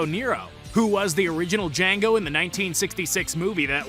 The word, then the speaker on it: Django: Django, played by Jaime Fox, does as the man asks. And upon spelling it out, he tells the man that the D is silent.